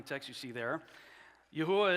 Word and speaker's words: Yahweh: According to text you see there, Yahweh is the pronunciation of the tetetrogrammaton that I've chosen. I don't get into fights with people about this. Some say Yahweh. The King James says Jehovah. Yhovah. Look, uh, we're we're talking about four consonants and we're doing the best we can. The pronunciation I've landed on is Yahweh.